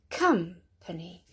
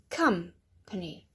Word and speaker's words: company: Company. Company. Not company, but company.